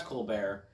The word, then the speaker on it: Colbert: And I find it interesting that they refer to Colbert, the talk show host, as Colbert in the appropriate French pronunciation and not Colbert.